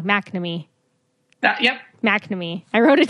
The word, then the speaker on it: McNamee: on I have McNamee I said it wrong McNamee yeah McNamee I wrote